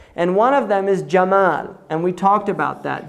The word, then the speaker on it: Jamal: Jamal, right? Camel is from Jamal, because the Egyptians say Gamal. They pronounce the jim Gamal. So when the Europeans first heard it, they heard Gamal, camel, right?